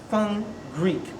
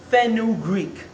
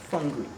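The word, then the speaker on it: fenugreek: r e e k 500 milligrams that's F fun Greek but how some people pronounce it is fenu Greek but that's not the right way you know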